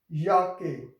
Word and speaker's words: Jacke: Next we have D Jacke. So J is pronounced as yacht, so yacht, a se ka e Jacke, and Jacke mean jacket.